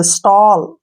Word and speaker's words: stall: ए के बाद अगर डबल एल आए तो ओ का उच्चारण करना है, ओ, ऐसे। जैसे नेक्स्ट है FALL, फॉल, SMALL, स्मॉल, STALL, स्टॉल, TALL, टॉल, WALL, वॉल, BALL, बॉल।